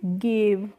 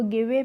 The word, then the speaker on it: give: नहीं है, तो इसको गिवे पढ़ना चाहिए था। लेकिन इसको हम गिवे नहीं पढ़ते हैं, क्या पढ़ते हैं, गिव पढ़ते हैं।